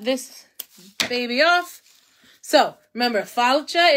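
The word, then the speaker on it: fáilte: So, remember, falcha is how we say it in Gaelic, welcome.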